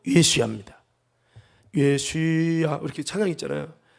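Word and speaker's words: ישוע: 우리는 예수님 하지만 영어는 지저스라고 하고 예 여러분 그 이제 그 원어적인 내용을 설명하고 예슈야 예수야 한번 따라볼까요? 예수야.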